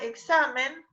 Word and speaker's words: examen: que significa por ejemplo la palabra examen lleva tilde o no no porque termina en y si es grave terminal l ahí está esa palabra no la quiero ver más en los pizarrones mal escrita examen no lleva tilde porque es una palabra grave es decir se acentúa en la penúltima sílaba está siempre la clasificó